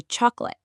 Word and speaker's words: chocolate: Or the middle O in chocolate, we say chocolate.